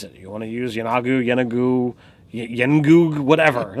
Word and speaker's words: Yeenoghu: I have to assume, however Matt says it, is the way it's going to be said, no matter what, because they're using his voice and Mercer's voice on D&D Beyond, I believe, for the pronunciation guide.